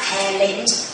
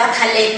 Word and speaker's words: Talent: อาจารย์ ใช้ คำ ว่า Talent ให้ ลูก จำ คำ นี้ นะ เพราะ สัมภาษณ์ จะ เจอ นะ ตัว t a l e n t teng อย่า อ่าน ว่า ทาเลน นะ ลูก